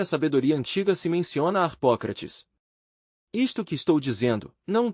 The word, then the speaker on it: Harpócrates: Harpócrates. Nome grego extraordinário, maravilhoso. Os místicos dos mistérios de Eleusis pronunciavam aquele nome na seguinte forma, Harpocratis.